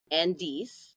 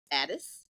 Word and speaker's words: Ades: at any age my guest today is Andes pronounced Addis Addis okay it looks like Andes but okay